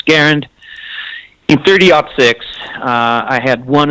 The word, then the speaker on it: Garand: Some people pronounce it Garand, but I learned that the correct pronunciation for it's Garand.